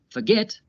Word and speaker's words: forget: The verb forget has two syllables, forget. Notice how the last syllable is stressed. Forget. Get is stressed.